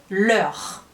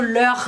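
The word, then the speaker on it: leurs: A gente sabe que o leur no plural tem S, mas a gente não pronuncia.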